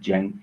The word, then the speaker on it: Cenk: Is it Cenk with a J? Oh, it sounds like a J, should I say? Yeah, forget the C. The C is fucking with you.